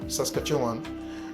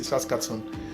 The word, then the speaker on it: Saskatchewan: Yeah, till now everybody don't know how to pronounce it, but just Saskatchewan. Some people just say Saskatchewan.